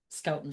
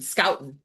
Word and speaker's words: Scoutton: Scoutton. Scoutton. Like a scout.